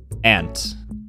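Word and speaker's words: aunt: how i say them ant i would never really say on it's just not really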